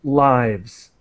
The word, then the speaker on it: lives: talking about babies lives that's the noun and so it's pronounced lives saving newborn babies lives